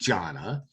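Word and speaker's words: जाना: The one that we're going to use for our example that starts is jana, and jana means to go, and it's pronounced jana.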